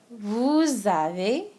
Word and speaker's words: vous avez: Same thing in the vous. It creates a little liaison, okay? Creates a Z sound. Vous avez, okay?